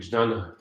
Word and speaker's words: Jnana: Direct Krishna consciousness is Bhakti Yoga, and Jnana Yoga, or Jnana Yoga, Sanskrit Jnana, Bengali Jnana, different pronunciation, is a path leading to Bhakti Yoga.